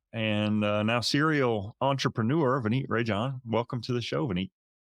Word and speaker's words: Rajan: Like it sounds like Rajin. Okay. Rajan. Awesome. So joining us today is former Marine Corps and now serial entrepreneur, Vineet Rajan. I said it wrong again. You sure did. R-A-J-I, Rajan. Rajan. Like R-A, like Rajan. Raj in. Raj in.